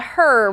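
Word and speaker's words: HRRR: And then the other one is going to be what we call the her model or a lot of people call it the her. It's HR RR. So, you know, kind of just phonetically looks like her.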